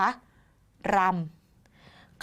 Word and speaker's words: รำ: รำ ใช่ ไหม คะ รำ คำ ว่า รำ เกิด จาก รอ อำ รอ อำ รอ ใน ที่